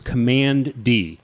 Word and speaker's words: Kamandi: So we get a little bit more of Kamandi here, and that's Kamandi. cool. Kamandi. Commandy. You know what? He was found in a bunker. It was Command D. So that's the pronunciation.